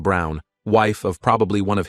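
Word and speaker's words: Braun: And I reminded her of the historical figure, Eva Brawn, pronounced Brown, wife of probably one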